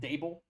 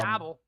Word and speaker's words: Daboll: Um we've got some uh discussion on a man called Brian Dable, which we'll get into. He was canned. Brian Dabble. Brian Dabble, as my dad would uh say.